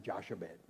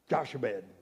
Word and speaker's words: Jochebed: I've been going around practicing Jochebed. Trying to make sure I can say it right. Jochebed.